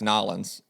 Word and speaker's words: Nolans: you didn't say it correctly. It's Nolans. It's what? Nolans. Yes, Nolans. Nolans.